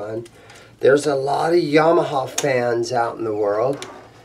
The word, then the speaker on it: Yamaha: I think the proper pronunciation of Yamaha, I know all Americans call them Yamaha, but I think it's supposed to be pronounced Yamaha.